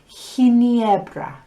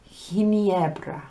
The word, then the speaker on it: Ginebra: Now, G is only like that when the next letter is E or I. So you have Gran Bretaña with a normal G sound.